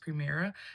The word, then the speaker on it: PRMR: Another brand that you may or may not have heard of is going to be Primera, and that's PRMR, but it's pronounced Primera.